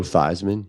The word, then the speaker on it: Theismann: Your boy Joe Theismann. Remember he changed the pronunciation of his name so it could rhyme with Heisman?